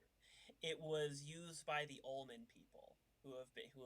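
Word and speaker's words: Olman: was used by the almond people who have been who have long since gone extinct how do you spell that it sounds like you said almond o-l-m-a-n all man he has all the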